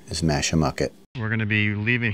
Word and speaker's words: Mashamoquet: with Park staff I was told the correct pronunciation is masham mucket we're going to be leaving here maybe doing